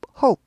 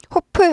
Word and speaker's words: hope: 나는 바란다 희망한다 hope hope 이렇게 되죠 호프 아니고 호 하고 여기 스타카드 찍으시고 오우 발음이에요 호프 아니고 호 호